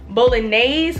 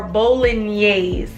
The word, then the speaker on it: Bolognese: building knees mind you I pronounced bolognaise or bowling yeas I've heard people pronounce it both ways so I'm probably gonna